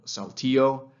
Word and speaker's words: Saltillo: regular officers they're at a Mexican town called Saltillo um that's spelled s-a-l-t-i-l-l-o it's in uh northern Mexico volunteer